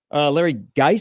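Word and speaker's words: Larry Gies: Illinois, Larry Geis, is that how you pronounce his name?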